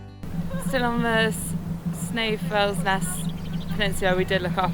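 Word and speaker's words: Snæfellsnes: easy to get here still on the snow FS Nest Peninsula we did look up and apparently that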